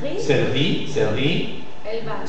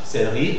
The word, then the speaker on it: céleri: Donc, la caïda de E muet, la perte de E muet de la syllabe suivante, de E muet, fait que le E, même s'il a l'accent circonflexe, se prononce E ouvert.